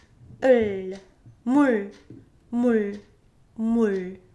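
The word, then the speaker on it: 물: Mul. Mul. Mul. It's not mul. You don't extend it, but you just simply stop right before trying to make l sound. So mul, not mul, but mul.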